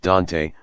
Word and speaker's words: Dante: the ccno had reached dante rhymes with ant virginia a tiny village